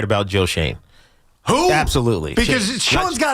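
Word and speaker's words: Schoen: George, you're absolutely right about Joe Shane.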